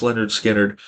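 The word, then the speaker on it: Lynyrd Skynyrd: dooll babies overnight sensation pronounced Leonard skinnard wake of the flood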